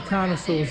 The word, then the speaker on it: carnosaur: The name is pronounced carnosaur, that means flesh-eating lizard.